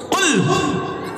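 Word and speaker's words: قل: আল্লাহ নিজেই বলছেন, কুল। কি বললাম? কুল নয়, কুল। উচ্চারণটা ঠিক করে বলুন।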